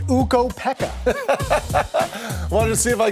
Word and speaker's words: Ukko-Pekka: It's Ukko-Pekka.